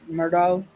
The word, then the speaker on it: Murdaugh: that's something too um I would say his name Alex Murdo but if y'all ever